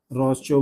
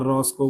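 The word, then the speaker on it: Rochow: ठीक है, रॉस्चो बोलो यार, रॉस्को बोलो बेटा, ये प्रोनाउंसिएशन है, तुम देखते रहना।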